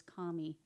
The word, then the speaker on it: Kami: I'm mispronouncing your name it's not Camy it's Kami K so and our highest